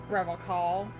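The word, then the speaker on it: Revachol: Revocol. He pronounces Revocol with a hard K, unlike other people. I like to pronounce it the hard way, the old way, the Oh my Vespertine lord.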